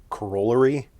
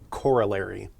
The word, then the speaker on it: corollary: A corollary, on the other hand, and you might hear some people call this a corollary, but the standard pronunciation is corollary.